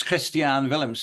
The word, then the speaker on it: Christiaan Willems: Angela and um It's Christian Willams is how it's pronounced in Dutch but um Australians or